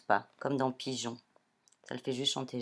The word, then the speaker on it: pigeon: Voilà, le E fait chanter J. Et ici, on ne le prononce pas, comme dans pigeon.